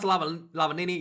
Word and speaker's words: Lavanini: Lavanini. How do you say his name? Lavanini? Thomas Lavanini, yeah.